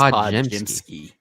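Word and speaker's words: Podziemski: Is that how you pronounce his name? Podemski? So Nick told me way back in the fall, it's Podjemski.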